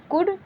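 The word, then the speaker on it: could: इसको कुल्ड नहीं पढ़ते, इसको शुल्ड नहीं, इसको वुल्ड नहीं, कुड, शुड, वुड, ठीक है, ऐसे पढ़ा जाता है।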